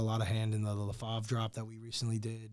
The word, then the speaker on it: LaFave: LaFave. Okay. Yeah, LaFave. Yeah. Because I see it everywhere, but I didn't know it was like LaFavre or LaFave.